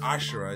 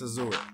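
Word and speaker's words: Asura: Did they really pronounce it like Azura? Azura. It's not Ashura. It's Azura. In English, for Europeans, it's Azura.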